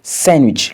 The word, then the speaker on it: sandwich: La lettre D n'est pas également prononcée dans les mots tels que sandwich, le sandwich, Wednesday, le